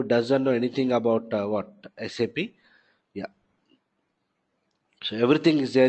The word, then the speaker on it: SAP: some of you doesn't know anything about what sap yeah so everything is there here you not